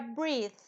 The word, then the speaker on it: breath: rió la Okay ahora breath entonces la th la th final no todas pero la mayoría se pronuncia como una Z española breath Entonces ustedes sacan